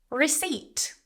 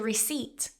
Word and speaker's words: receipt: I need a receipt. Silent P. I need a receipt.